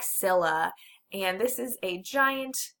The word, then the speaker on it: Scylla: Monster 1 is Scylla. Looks like Skyla. You say it like Scylla.